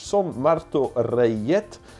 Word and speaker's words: Martorellet: is the Son Martoje, hard to pronounce, the Son Martorellet. Reyet, that has to be because it's Spanish. Son Marto Reyet, equestrian show, so horse show.